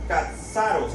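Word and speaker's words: καθαρός: recordando limpio del griego katsaros así como suena con c de kilo a d s a r o acento en la o y s katsaros se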